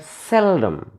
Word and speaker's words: seldom: Since this is an adverb and we find two syllables in this word, seldom. One is sell, another is dom. Seldom. We should emphasize or we should stress on the first syllable. Sell. First syllable, seldom. Sell.